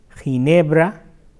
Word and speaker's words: Ginebra: So, if you come across or you wonder that how to pronounce that word, like few examples are ¿Cómo se pronuncia G-I-N-E-B-R-A en español?